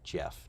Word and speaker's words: Geoff: rad what's up Geoff Mead geoffifa Golf and Jeff to say it properly definitely check this one